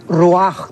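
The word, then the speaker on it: רוח: La palabra espíritu es ruach, que se pronuncia ruach también.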